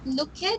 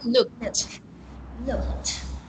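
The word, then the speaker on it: looked: past dance of luke it's not look it but it's pronounced you say it again look look okay there and again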